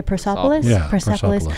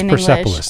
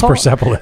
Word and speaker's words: Persepolis: what did i say persopolis i don't i never know how to pronounce that i think it's persepolis that's the way to pronounce it i've heard people say